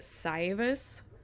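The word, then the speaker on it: Saevus: It's like a or a, but they pronounce it syus, which is um it's a it is probably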